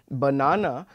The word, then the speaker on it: banana: produce these things so for example banana uh will basically involve stress on the second syllable and we'll speak the second syllable slightly louder than we have spoken the first or the third syllables similarly in Panama we